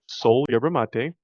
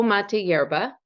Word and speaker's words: Soul Mate Yerba: So, you guys, Anna has a company called Soul Yerba Mate. Did I say it right? So mate yerba, Soul but Mate Yerba.